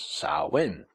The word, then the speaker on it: Samhain: various holidays such as sawin sawin was a very much the Irish name for it Sam sa sa sa